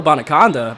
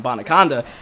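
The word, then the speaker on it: Abanikanda: And a nice little gain afterwards as a Banakanda with the run, and Israel Bonaconda, boy, that's how you actually say his name, Bonaconda.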